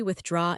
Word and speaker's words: withdraw: But the pronunciation is tricky. It has that TH in the middle plus a doctor. Withdraw. It feels like a tongue twister.